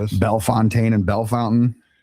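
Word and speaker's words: Bellefontaine: It's it it people are offended if you say Bel Fontaine. I said that's the way it's spelled.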